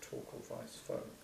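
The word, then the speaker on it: Torkel Weis-Fogh: professor of zoology a very interesting man called toal Vice fog how do you how do you spell that t o r k l that was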